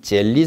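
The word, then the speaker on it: gel: 이 겔이라는 영어 단어는 젤리 상태다 이런 거예요. 젤 또는 겔 이렇게 발음하는데요.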